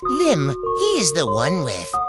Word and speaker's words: L1MB: His name is L1MB. To pronounce Lim, he is the one with the orange skin and studded cartoony beard.